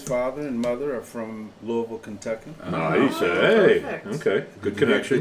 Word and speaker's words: Louisville: father and his father and mother are from Louisville Kentucky nice okay good connection did you hear how I pronounce that L did Lou no I said